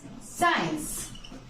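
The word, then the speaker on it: science: Just देखो, सेंस या फिर फ्रेंड्स साइंस। देखो आप, इसे आप साइंस बोलते हो, इसे आप सेंट बोलते हो। इन वर्ड्स में ये जो सी है वो साइलेंट है ना, साइलेंट।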